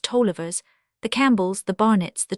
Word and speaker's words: Taliaferros: The Grattans, the Lewises, the Clarks, the Struthers, the Crawfords, the Rieses, the Harrises, the Andrewses, the Taliaferros pronounced Tollivers, the Campbells, the Barnetts,